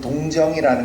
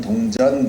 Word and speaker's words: 동정: 여러분, 우리 한복에는요, 여러분 동정이라는 거 알죠? 한복에 보면 여기 목둘레에 다는 그 동정, 이거 발음 잘못하면 동전 그러는데 동전은 틀린 표현이고 동정이 맞습니다.